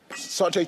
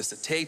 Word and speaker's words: satay: Sauté chicken. The satay chicken.